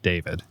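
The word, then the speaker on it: D4vd: I can only assume this name is pronounced David. It's spelled D the number four V D, but I think it's David.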